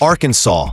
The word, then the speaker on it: Arkansas: According to the Arkansas Code, it's legally mandated to pronounce it Arkansas with a silent s at the end.